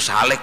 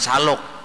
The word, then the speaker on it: salik: ibadah yakni salik itu salik bacanya jangan salok apalagi salak lain orang salik itu